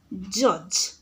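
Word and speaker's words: judge: सेपरि जज जज रे मध्ये पिला माने जे यू जी ई स्पेलिंग रे आसुछि डी हमरो साइलेंट रहउछि एठी डी होछि तुमरो साइलेंट लेटर।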